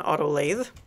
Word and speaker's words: lathe: Because that is how you actually pronounce that, is an auto lathe.